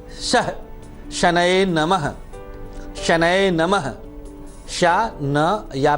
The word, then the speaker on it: शनये: ओम प्रांग प्रींग प्रौंग शह शनये नमः, शनये नमः, शा न या पे एक ही मात्रा, शनये नमः। उच्चारण का खास ध्यान दिया करिए।